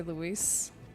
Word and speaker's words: Luis: Also, it's Luis, right? Because, like, I believe you wouldn't say it like the French way of saying Louis. You'd say Luis.